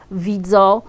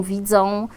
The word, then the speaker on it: widzą: Chociażby tutaj przykładem może być nosówka on w wygłosie, czyli na końcu wyrazu, którą dość często niedbale wymawiamy jako ido, widzo, zamiast idą, widzą, albo czasami wymawiamy ją jeszcze inaczej, idą, widzą.